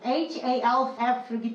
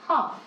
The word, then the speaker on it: half: 1.5 years고 그 half 발음할 때 H-A-L-F이기 때문에 L 사운드 자꾸 발음을 하고 싶어 한단 말이야. L 사운드 발음 안 나요? half.